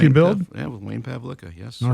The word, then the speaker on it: Pavlika: Yeah, with Wayne Pavlika, yes. All right. Well, make sure you pronounce the name correctly, okay?